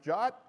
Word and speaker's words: JWT: Naturally, that abbreviation JWT is pronounced JOT. Why wouldn't it be?